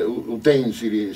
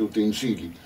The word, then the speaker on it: utensili: Per esempio, cioè, sento anche in televisione, sento dire utensili, si dice utensili.